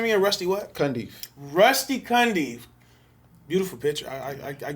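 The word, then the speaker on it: Rusty Cundieff: say his last name again rusty what kandi rusty cundy beautiful picture i i i give i give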